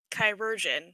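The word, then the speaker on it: chirurgeon: with your alchemy cool kyrgin that's how it's pronounced chirogen yeah like chemical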